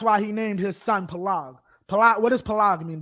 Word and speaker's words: Peleg: Peleg is how you say it in English. It's Pelag in Hebrew. Pelag, right?